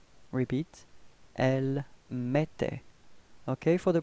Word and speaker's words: mettait: Repeat, elle mettait. Okay, for the pronunciation, remember that then when you've got this two T right after the E, it does give you the pronunciation for the E, it's open, it's E, E, okay?